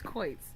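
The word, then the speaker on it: quoits: Yeah, give me the pronunciation. It I was right. Okay, it's quits.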